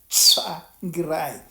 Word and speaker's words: Tsvangirai: A lot of people, a lot of journalists could not pronounce that word, Tsvangirai.